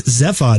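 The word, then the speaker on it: Zaphod: Well, it's not Zephod, it's Zephod.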